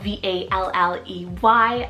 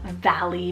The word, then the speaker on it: Valley: and ESV means filled with life Valley spelled v-a-l-l-e-y Valley a gorgeous nature name meaning Valley between the mountains then I added the name